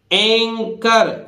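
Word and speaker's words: anchor: इसी तरह देखिए एंकर सी एच, सीधी सी बात है यहां सी एच किसकी ध्वनि दे रहा है? का की।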